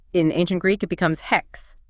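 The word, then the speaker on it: ἕξ: In ancient Greek, it becomes hex, pronounced with that H at the So it's beginning.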